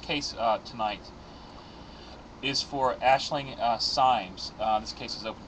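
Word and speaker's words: Aisling Symes: Deborah what information do we have am I pronouncing this correctly Ashling uh Sims yes that's how it's pronounced okay um Ashling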